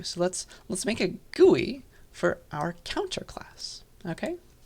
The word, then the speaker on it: GUI: which is uh gui for short okay gui gui that's how we pronounce it and so we're going to do